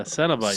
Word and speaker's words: Cenobite: This is how it's closely pronounced. Cenobytes. Cenabites. Yeah. Cenobites.